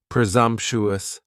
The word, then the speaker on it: presumptuous: Next is presumptuous, and presumptuous has 4 syllables, and the stress is on that second syllable, and the S almost sounds a little more like a Z. Presumptuous, presumptuous.